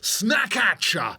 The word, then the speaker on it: Snackatcha: @walkers_crisps with the hashtag Snackatcha. That's like back at you, but with a snack.